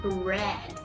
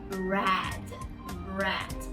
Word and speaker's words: Brad: So it's not bread, it's Brad.